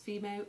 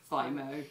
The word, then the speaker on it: Fimo: is a craft material which I pronounce Fimo and some people call it Fimo but it's basically polymer